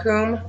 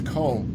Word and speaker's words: Commbe: married it is now comb paranormal reaching beyond on you always thought it was cold everybody pronounces it wrong i'm sorry i always